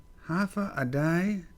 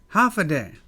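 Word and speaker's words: Hafa Adai: take a look here half a day t there's a all right there's an asterisk here pronounce half a day half a day which means hello this is tomorrow the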